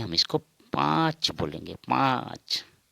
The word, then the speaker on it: पाँच: पाँच, पाँच नाक से उच्चारण होगा पाँच।